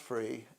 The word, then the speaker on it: Fri: And You said free? F-R-I. Oh, Free. Okay. Yeah. And pronounced Free.